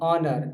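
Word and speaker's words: honour: एच ओ यू आर आवर मतलब घंटा और ऑनर एच ओ एन ओ यू आर ऑनर किसी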